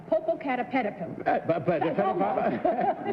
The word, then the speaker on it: Popocatépetl: Popocatépetl. One more syllable there, and Johnny will be out.